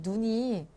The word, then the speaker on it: 눈: 이 눈이 소리가 똑같은 것 같지만 살짝 조금 다르다? 뭐가 다르냐면 하늘에서 내리는 눈은요, 길게 발음해야 돼요. 눈에 눈이 들어간다. 이런 식으로 이 눈은 짧게, 하늘에서 내리는 눈은 길게. 알겠지?